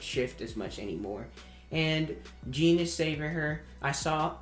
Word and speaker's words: Jean: peek oh my goodness i don't know why i'm saying gene i know it's pronounced jean but it's i'm gonna start saying jean that's how it's pronounced it's just you read